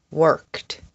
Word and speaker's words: worked: Asked, checked, walked, worked. The sound at the end of these words is kt.